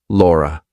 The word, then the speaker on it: Laura: It ends on a schwah. But what other words end in a schwah in English? We have mother, father, water, better. Oh, look. R. So that schwa sound sometimes is spelled like. So if I have to link my name to something else that's a vowel, I have to put an r in there. So I say Laura is Laura is great.